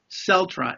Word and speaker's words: Celtra: No, it's Celtra. It's CELTRA. Celtra.